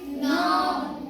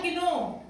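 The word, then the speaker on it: know: जगह हम पढ़ रहे के एन ओ डब् इसे हम क्या पढ़ेंगे नो नो या किनो नो नो पढ़ेंगे इसमें क्या है के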